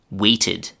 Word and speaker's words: waited: When a regular verb ends in t or d, then the d ending or d ending is pronounced not d or t, but id.